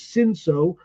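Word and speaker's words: Cinsault: that is in fact the name of the grape is sinso and that's how it's said in French and the sira vineyards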